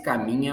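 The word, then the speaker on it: Camiña: no meu Instagram, @VitorCaminha, Camina, pronuncia-se Caminha, mas se escreve Camina, é que tem um tio aí espanhol, tá, pessoal?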